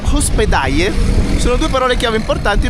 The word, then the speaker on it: hospedaje: Per esempio posada e hospedaje sono due parole chiave importanti per trovare degli hotel economici, che poi in realtà si pronuncia hospedaje, come Tunja, la città in cui siamo.